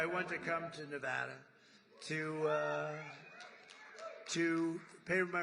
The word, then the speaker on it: Nevada: ever heard it and don't ever mispronounce the name you're not allowed to do that you you mispronounce the name you got to have problem you ever see somebody when they say it's Nevada Nevada oh they're they're in deep they're in deep trouble I I want to